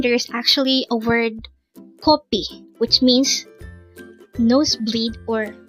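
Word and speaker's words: 커피: just need to remember copy with the O is um blood from the nose and copy with the a sound is the Korean term for coffee and P from copy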